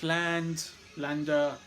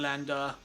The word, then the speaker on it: Lande: Russell Allen, Jorn Lander, awesome stuff. Jorn Land, whatever. I never know how to pronounce it, Lander or Land. Keep the E silent.